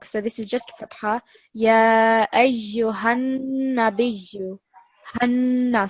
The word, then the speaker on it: يا أيها النبي: Ya ayyuhan nabiyyu. Hanna. So the emphasis, the stress is on the noon. We're not going to make it any longer.